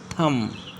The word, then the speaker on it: thumb: अगर किसी वर्ड में बी एम के बाद आता है तो ज़्यादातर बी साइलेंट होता है। Example, BOMB bomb, LAMB लैम, नॉट लैम्ब, लैम, B silent. टम, कॉम, थम, ETC। So here B silent करना है।